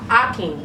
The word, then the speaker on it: Hakeem: Damien Hakeem. Okay. Yes. Okay, The so- age is silent. Akeem. Akeem. I never knew that.